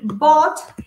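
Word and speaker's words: bought: igual hay voz sí Bot es el pasado del verbo Bye sí que es comprar Bots Ok y fíjense que se pronuncia de una forma muy simple como si fueran botellas Entonces ya es hora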